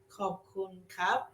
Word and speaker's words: ขอบคุณครับ: ขอบคุณครับ ขอบคุณครับ For guys say ขอบคุณครับ For girls say ขอบคุณค่ะ ขอบคุณค่ะ Yes. Guys say cup and women say ka.